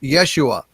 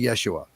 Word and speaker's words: Yeshua: stuff uh he says his actual name was pronounced yeshua so it is not uh jesus is an anglicized uh pronunciation uh his name was actually yeshua yes so just uh just to give you